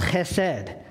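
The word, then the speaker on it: חסד: It's a Hebrew word that's pronounced chesed, and it means covenant-keeping, unconditional love.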